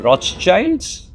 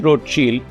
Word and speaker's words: Rothschild: Call them Rothschilds or call them road shield. I'm told a more appropriate pronunciation is road shield because they had a family insignia which was a red shield.